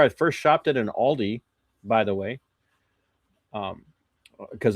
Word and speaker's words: Aldi: first shopped at an Aldi, by the way. Um cuz Aldi is like considered a very high-end grocerers market in Germany, but they say it like Audi Audi.